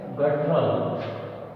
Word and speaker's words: guttural: रेस्टफुली इसका प्रोनाउंसिएशन है रेस्टफुली, रेस्टफुली। तो इसका हिंदी में अर्थ होता है आराम से। फिर है गटरल, GUTTURAL, गटरल।